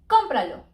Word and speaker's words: cómpralo: the rule things like cómpralo the rule said to us it ends in a vowel we should accent in here and pra but we don't do it we're doing in com an example sobresdrújula with